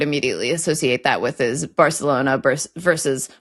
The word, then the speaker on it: Barcelona: If an English person says Barcelona, they sound pretentious. But also, I don't know how that name is pronounced in Catalan, and they're proudly Catalan in Barcelona. But in Castilian Spanish, yeah, it's Barcelona.